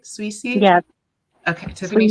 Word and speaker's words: Souissi: Souissi? Yes, Okay, Tiffany Susie. Souissi.